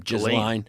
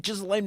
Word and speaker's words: Ghislaine: It's like, I just call her Gasoline because I hate pronouncing her first name. Ghislaine. Ghislaine.